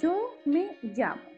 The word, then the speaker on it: yo me llamo: Vocês podem falar como uma jota, jota de jeans. Seria yo me llamo, ok?